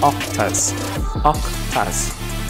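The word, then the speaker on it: oktas: clouds would be the octas what does that sound like sound like it right yup except that it is spelled with o k t a s in the case that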